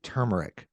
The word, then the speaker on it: turmeric: pronounce it um the there's an r in there t-u-r-m-e-r-c so I say turmeric I say turmeric that's